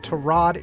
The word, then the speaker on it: Tyrod: In 2018, Browns quarterback Tyrod Taylor was injured in Week 3 and lost his job permanently to Baker Mayfield, and Tyrod is his preferred pronunciation.